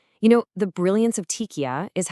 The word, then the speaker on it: TIQA: Well, Tika, and you pronounce that Tika, is basically a step-by-step process.